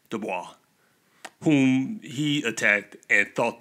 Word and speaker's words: DuBois: e b dubois and i know people pronounce it the boys but i like to say dubois whom he attacked and